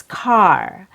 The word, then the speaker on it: car: Our first word is car. Car has a short O sound. Plus R. Short O. A plus R.